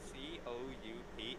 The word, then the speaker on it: coup: have no idea why c-o-u-p is pronounced coup maybe it's because of the silent P yeah but then it